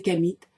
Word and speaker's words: Khamites: et les croyances des kamites qui se sont exprimées publiquement et je prononce bien kamit car il s'agit de la descendance de Cam premier fils de Noé et je ne dis